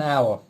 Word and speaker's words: hour: the lesson lasts an hour the h is silent as well because we studied it